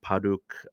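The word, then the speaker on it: 바둑: was called go but paduk is how they say it in Korean or paduk and yeah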